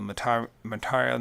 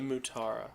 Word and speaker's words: Mutara: In the nebula, the Matara Nebula, is how you say it? The Mutara.